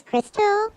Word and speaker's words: Crystal: My name is Crystal.